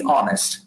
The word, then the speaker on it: honest: but when you say honest when you pronounce the word honest it makes a vowel sound doesn't make a consonant sound does it it doesn't